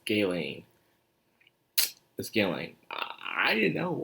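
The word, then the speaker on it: Ghislaine: wrong the entire time turns out the s is silent her name and guy lying i would say gas liners on guest line or something like that but no it's it's gay lane the scaling i didn't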